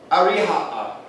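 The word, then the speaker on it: أريحا: Ariha'a.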